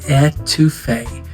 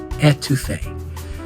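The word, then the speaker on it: étouffée: That is pronounced etouffee. Short E, number 2, and the woman's name Faye. Ettouffee.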